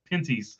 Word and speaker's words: Pinty's: It was Pinty's.